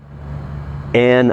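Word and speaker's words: Ayn: in the way that and I guess this a yn is pronounced an an rand describes in the quote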